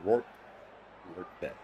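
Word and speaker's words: Rortvedt: to the newly acquired Work Ret is how you pronounce his name.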